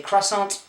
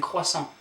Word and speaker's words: croissant: You don't say croissant but you're saying croissant.